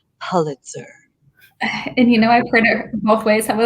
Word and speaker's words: Pulitzer: Before the show, we discussed for 5 minutes whether it was Pulitzer or Pulitzer, and we asked Miss Google, who said Pulitzer.